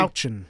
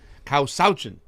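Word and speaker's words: Kawsachun: Causachan. Causachan. Causachan. Like the middle word is like slouch, but without the L. Causachan. Causachan. And it's a cow. You guys should have had a cow. Causachan.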